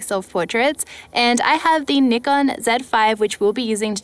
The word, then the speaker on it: Nikon Z 5: and i have the nikon z5 which we'll be using to take out photos with today and yes that is how you pronounce it in australia you guys heard it